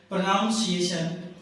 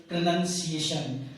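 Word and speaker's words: pronunciation: तो कई विद्यार्थी इसको बोलते हैं प्रोनाउंसिएशन, जबकि ये प्रोनाउंसिएशन नहीं होता है, वो होता है केवल प्रोनंसिएशन।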